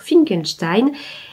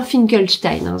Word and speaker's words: Finkelstein: son créateur, le docteur Finkenstein, et aspire à une autre vie. Euh, et c'est bien Finkelstein, j'ai pas mal prononcé, c'est pas écrit Frankenstein.